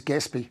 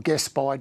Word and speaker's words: Gaspy: I use Gaspy or Gaspy, depending on how you want to pronounce it.